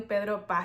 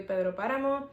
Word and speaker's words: Pedro: after the one where she mentions Pedro which I've mistakenly been calling Pedro when it's clearly Pedro I actually made it